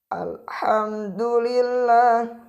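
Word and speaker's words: الحمد لله: Alhamdulillah, maka itu bacanya salah. Bacaan yang benar ketika lafaz alif lam adalah alhamdulillah.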